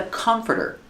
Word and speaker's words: comforter: This is a comforter. Pronunciation. Comforter. Comforter. The stress is on the first syllable. It's three syllables.